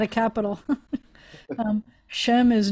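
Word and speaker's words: שֵׁם: name or reputation um when i was growing up we would pronounce it as an a and not an e i told you in modern israel now that two dots like that is is most often pronounced as an e and so you'd say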